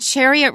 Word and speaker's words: chariot: in behind a horse it sounds like the word chair because you're really standing